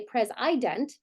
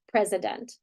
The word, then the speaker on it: president: be an open syllable we wouldn't say press ident we would Flex it to awwa president um and then we